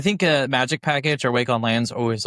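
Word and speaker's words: Wake-on-LAN: that will send a wake on lang wake.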